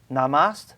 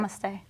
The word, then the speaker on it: namaste: good you look healthy take care of yourself namas did I say it right Namaste Namaste Namaste what does namaste mean uh you